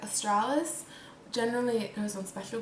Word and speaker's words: Australis: it's beacon friendly um I do like Australis I think that's how you say it some people say like Australia's people have like different ways of saying it but I say Australis alright let's say it